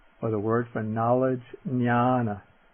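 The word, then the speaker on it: ñāṇa: on top of it is pronounced like an NY like the N in canyon or like the N in onion.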